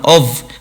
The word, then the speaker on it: of: এখানে খেয়াল রাখবেন একটা অফ দা হবে না, অফ, ভি এর মতো উচ্চারণ হবে, অফ দ্য কিংডম।